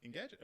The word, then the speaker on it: Engadget: How do you pronounce it? Engadget? Engadget, yeah. Engadget.